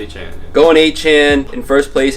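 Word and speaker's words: Achane: Going Akane or Achan. How do you pronounce the name? Achan, right? Achan.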